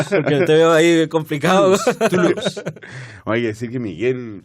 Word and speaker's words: Toulouse: Es la OU, se pronuncia igual que nuestra U. Así que no hagas esfuerzo, Toulouse. Porque te veo ahí complicado. Toulouse.